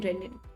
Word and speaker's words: renin: It's pronounced the same way and not the single N renin.